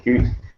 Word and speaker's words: Qt: three times as much which is great it's pronounced cute is one word so it's a way to